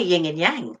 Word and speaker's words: yin and yang: I say yin and yang, but that's right.